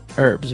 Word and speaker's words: herbs: Okay, so we can accept basically if somebody says herbs, but I guess in American English it's more commonly pronounced as a silent H.